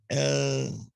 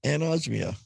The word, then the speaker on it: anosmia: Anosmia. Yeah, anosmia. No, it's anosmia.